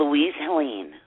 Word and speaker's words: Louise Helene: How do you pronounce your name so I know that we're saying it right? Louise Helene.